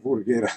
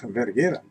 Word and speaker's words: Verghera: anche MV(U) MV(U) no Cioé MV significa Meccanica Verghera, no Vurghera Verghera "MV(I), MV(I)" Questo perché?